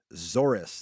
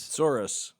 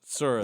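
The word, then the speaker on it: tsuris: To which Epstein replied, "And I thought I had Zorus." This is I guess Yiddish for trouble is how you pronounce this. Sorus. Sorus. Okay. All right. It's like woes.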